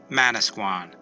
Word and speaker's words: Manasquan: The English pronunciation would become Manasquan.